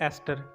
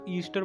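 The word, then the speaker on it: ester: अब है हमारे पास 12th एग्जाम्पल, वो है एस्टर। इसको ध्यान से आपने पढ़ना है, इसको प्रोनाउंसिएशन का ज़रा सा बच्चों के अंदर कन्फ्यूजन होती है, वो इसको ईस्टर बोल देते हैं। ईस्टर नहीं बोलना, वो एक जो फॉरेन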